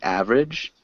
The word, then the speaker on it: average: and can you repeat average aage average average more just two syllables aage average aage average